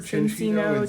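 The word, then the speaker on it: Cinccino: of these, it's a chin chino, right? Is that how you say it? I don't know. I've heard chinino. Chin chino. Chin would be like the Italian way of saying it.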